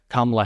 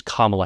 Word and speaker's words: Kamala: Because she is Kamala Harris. Not Kamala, not Kamala, because she's Kamala Harris.